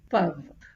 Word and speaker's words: peuvent: Pav. Pav. So I repeat the pronunciations alone.